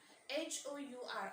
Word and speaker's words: hour: a and and our h-o-u-r hour but we never say it as a our right students because h is silent and then we see